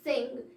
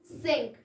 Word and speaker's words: sync: It's not sing, it's sync.